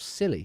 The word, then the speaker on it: Scilly: Isle of Scilly are pronounced Isle of Scilly, yes. It's very, very silly. Very, very silly place.